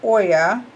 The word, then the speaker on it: Oya: In Africa, Oya, pronounced Oya, Oya, Oya or Oya, Oya.